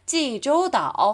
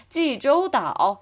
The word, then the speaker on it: 济州岛: 자, 제주도라고 안 하죠? 중국어로는 济州岛. 한 번 더 시작. 济州岛. 맞아요. 한국에서는 제주도라고 하지만 중국인들은 찌조다어라는 한자의 발음을 읽어서 발음하죠.